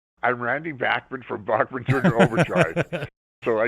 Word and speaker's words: Bachman: You've heard it pronounced several different ways. In Canada, we grew up saying Bachman.